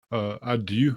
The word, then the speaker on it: adieu: And adieu, I guess, is the proper pronunciation.